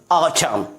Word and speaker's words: autumn: AUTUMN। आप यहां देख पाएंगे कि लेटर M जो है वो N के पहले है और इस तरह से N की प्रोनाउंस नहीं की जाती है, तो इसे हम लोग क्या पढ़ेंगे? ऑटम, ना कि ऑटम।